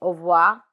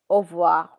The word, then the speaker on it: au revoir: But R is normally silent when you're saying au revoir. So in informal conversations and when you're talking, it's au revoir, au revoir.